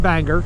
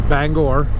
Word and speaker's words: Bangor: up through Bangor Maine it's not Banger it's Bangor then we're gonna go